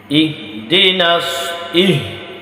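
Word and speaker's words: اهدنا: হয়, গোল হা যেটা ইহ ইহ ইহ, এটা হচ্ছে এই হলক অর্থাৎ কণ্ঠনালীর শুরু হইতে হামজা হা হামজা হা ইহদিনাস সদ ইহদিনাস ইহদিনাস সিরাতাল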